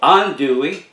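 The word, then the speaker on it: andouille: name i want to talk about is called andui and it's a type of cajun sausage and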